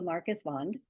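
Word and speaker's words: Marcus Wandt: Uh W's in Swedish are pronounced like V's because for the longest times the Swedish alphabet didn't have W's. So Marcus Vond and uh he came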